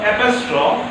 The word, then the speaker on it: apostrophe: So see, in this name shampoo, S stands for simile, then H stands for hyperbole, A stands for apostrophe, M stands for metaphor, P stands for personification, O stands for oxymoron, and O stands for onomatopoeia.